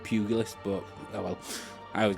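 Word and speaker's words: pugilist: We have got male as the sex and we have got uh the pugil list or pug pug puggy list. I think it's pronounced pugily list but oh well I always get it wrong anyways.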